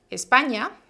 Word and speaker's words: España: si el salvador siguiente españa recuerden que el sonido ni es una sola consonante en castellano vale no es un grafo como en portugués es para mí guatemala